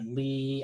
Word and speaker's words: Lie: a mathematical course on Lee algebras Lee spelled like lie right that's how you that's the you pronounce that if you see that word in mathematics l i e it's pronounced Lee okay so there's we